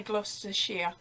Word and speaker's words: Gloucestershire: It's spelled Gloucestershire, but we say Gloucestershire.